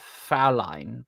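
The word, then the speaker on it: Fräulein: And yes, I know it's pronounced Fraulein, but I'm trying to maintain accent.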